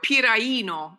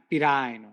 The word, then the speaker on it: Piraino: you are piraino in Italian. Pirino. It's piraino. Believe me, I lived in Italy for 30 years.